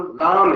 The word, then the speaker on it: राम: भगवान राम का नाम राम है, ना कि रामा है। रामा कहने से उच्चारण बदल जाता है, उसका अर्थ बदल जाता है।